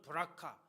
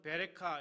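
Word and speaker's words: ברכה: 여기서 복이라고 하는 단어는 브라카, 또 다른 복음에선 베레카 이렇게 발음이 되는데요.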